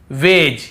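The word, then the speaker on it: wedge: फिर देखिए हेज और वेज यहां पर भी डी को हम नहीं पढ़ रहे हैं ब्रिज एज हेज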